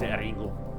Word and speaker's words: Ringu: do want to see Ringu, the original The Ring, which is in Japanese it's Ringu. Yeah, has a U at the end. That's how they pronounce ring.